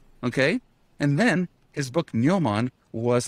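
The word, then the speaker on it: gnomon: memory um absolutely fantastic neoman uh spelled with a g g-n-o-m-o-n which is the uh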